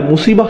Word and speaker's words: মুসিবাহ: এরপর আবার শব্দটি শেষে রয়েছে তা মারবুতা, যে জন্য আমরা মুসিবাহ উচ্চারণ করি, মুসিব না কিন্তু।